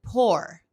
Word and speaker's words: pour: Y algunos pronuncian pour, pero para mí está en un punto medio entre U y O.